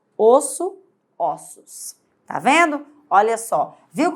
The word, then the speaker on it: ossos: a minha boca osso quando você passa para o plural Você tem ossos é como se aqui bem aqui nesse ou tivesse um acento circunflexo porque tá sendo pronunciado com o som fechado isso e aqui quando se passa para o plural ficaria com o som como se tivesse um acento agudo porque sai um som aberto ossos osso ossos tá vendo